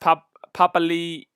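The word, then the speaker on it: Papaliʻi: Big Boy has says, yeah, Papali has said that it's pronounced Papali'i.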